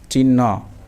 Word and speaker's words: চিহ্ন: তারপরে চরসইকার হ দন্তন্য নফলা চিহ্ন চিহ্ন চিহ্ন না চিহ্ন না মাঝামাঝি একটা উচ্চারণ চিহ্ন হালকা হর উচ্চারণ এবং দন্তন্য রস উকার